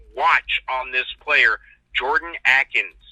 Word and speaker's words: Akins: Go ahead and click watch on this player, Jordan Akins. Not Atkins like the Atkins diet. There's no T in there, but it's Atkins. It's spelled like Akins.